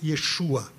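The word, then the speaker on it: ישוע: A palavra salvação, em hebraico, é a palavra, se pronuncia Yeshua.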